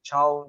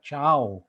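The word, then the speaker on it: chao: It's spelled CH-AO, so it's kind of like chow. Okay, so which means to fry or cook.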